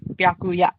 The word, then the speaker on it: Byakuya: No, it's you pronounce the O with U, and then you add a ya on the end. Byakuya.